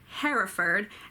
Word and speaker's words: Hereford: county is called Herefordshire but for the meter it works better if you do the two syllable Hereford so I will try